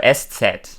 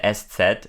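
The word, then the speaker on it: ß: right so um so s set right is a letter that only exists in the German language uh it's called s set but you pronounce it s it's like a sharp s and uh the origin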